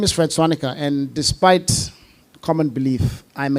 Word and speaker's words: Swaniker: Fred Swanika, the founder CEO of Sand Technologies. Sir, what is the correct pronunciation of your name? Suanikia. Of course not. It's just Swanica. It's very simple.